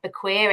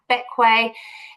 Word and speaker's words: Bequia: So despite being spelt more like Bequia, it's actually pronounced Bequia.